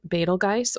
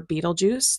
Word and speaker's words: Betelgeuse: Now, find Betelgeuse or Betelgeuse. There's multiple ways to pronounce that star, which is right here.